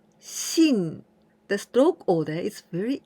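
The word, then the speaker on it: 信: digest this Kandi means to believe and we pronounce Shin the stroke order is very easy at first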